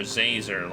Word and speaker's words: Zazer: It's Professor Zazer, like laser with a Z.